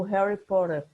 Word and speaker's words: Harry Potter: assistiram o filme de Harry Potter, né? Ou Harry Potter, para algumas pronúncias, porque tem a pronúncia do inglês americano, que eles trocam o T pelo R, e tem a pronúncia